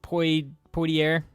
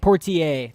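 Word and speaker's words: Poitier: Um, to Sir with Love by Sydney Pierre. I might have butchered Sydney Portier. Portier.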